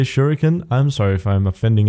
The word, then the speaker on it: Shuriken: the shurik particle system there's much debate on how to pronounce that I'll say shuriken I'm sorry if I'm